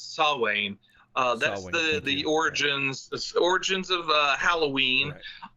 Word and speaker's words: Samhain: Yeah, it's a Samhain, although the M's not pronounced, so it's Samhain.